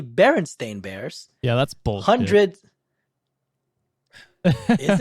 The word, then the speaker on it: Berenstain Bears: Scotty was never said Berenstein Bears is actually Berenstain Bears yeah that's bull 100